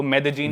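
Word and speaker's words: Medellín: It has a city called Medellin. There is a double L in the spelling. It is Medellin. But in Colombian Spanish, it is pronounced La as ja So Medellin.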